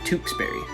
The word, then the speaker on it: Tewksbury: today we've got tewksbury you gotta go a little harder with w on this one and ooh sound tewksberry number four very commonly